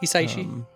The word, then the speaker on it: Hisaishi: Yeah, it was Joe Hisaishi. How do you pronounce that? Hisaishi.